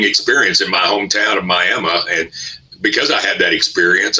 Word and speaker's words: Miami: to correct somebody on how to pronounce Miama oh we're probably nearing a million at this point I mean it's you know that's just the miam way we're going to immediately go no it's not Miami it's Miami I know